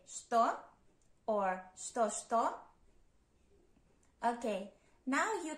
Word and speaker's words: что: What in Russian is что? Что? Pay attention that you spell it with ч, ч, and you pronounce and read it with ш, ш.